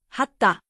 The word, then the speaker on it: はった: Hata, hatta.